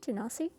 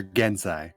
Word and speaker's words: Genasi: Yeah, one Genasi. is Ganassi. I had to stop and think for a second when you said that. I'm like, wait, do you mean Genasi?